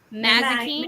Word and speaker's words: Mazikeen: Mazikeen, Maze.